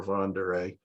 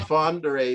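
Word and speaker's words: Von der Ahe: it i mean i i pronounced it fonder a because there was a moving company in st louis with a slogan all the way with van der ay so that's that's what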